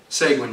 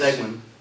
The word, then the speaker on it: Seguin: Seguin, yes. Seguin. These guys have weird last names. Sometimes I have a hard time pronouncing them.